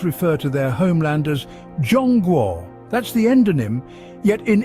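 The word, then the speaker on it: 中国: So both China in English and China in Spanish, despite sharing the same pronunciation and spelling, are exonyms for what the locals call Zhongguo.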